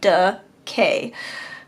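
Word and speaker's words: DeKay: Um right around the corner from where we used to live called decay. It's spelled D E K A Y. It's the It's somebody's name like Du K.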